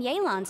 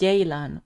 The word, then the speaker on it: Yelan: It's pronounced Yelan, not Yelan. Okay, oh, Yelan.